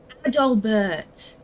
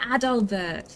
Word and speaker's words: Adalbert: No, not Adolf. Ad doll. A D A L. Bert.